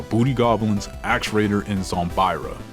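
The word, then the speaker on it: Zombyra: cards like the Booty Goblins, Axe Raider, and Zombira. Zombria? I'm not sure what it is. The correct pronunciation is Zombria.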